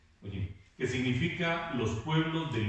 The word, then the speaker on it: goyim: La palabra gentiles proviene de la palabra hebrea goyim, así se pronuncia, goyim, que significa los pueblos del mundo que no son judíos.